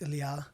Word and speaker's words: Ilia: And even then nobody could pronounce Ilia. Yeah. They or whatever. And I'm like that's not my name man.